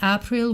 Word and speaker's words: aprille: to the Canterbury Tales is pronounced in Middle English as whan that aprille with his shoures SOTA okay which it